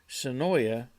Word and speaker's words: Senoia: to Senoia Georgia or if you live there you have to say it wrong you have to say sonoi I think sanoi is how they say it I don't know why s-e-n-o-i-a it's Senoia um but they say it's annoy for some I don't know